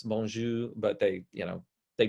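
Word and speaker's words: bonjour: and they say oh how do you say hello I think it's boner no it's bonju but they you know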